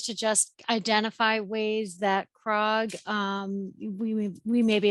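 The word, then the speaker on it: CRCOG: together um with with krog and um the Connecticut energy Network and pace so just a quick overview of the capital region Council of governments which we call krog second C is silent um we're a thousand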